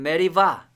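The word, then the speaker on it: מריבה: 사건이 끝나고 난 다음에 이곳의 이름을 이제 무리라고 자 히브리어로는 메리바 또 무리라고 읽을 수도 있고요 자 리바다라고 하는 공통점이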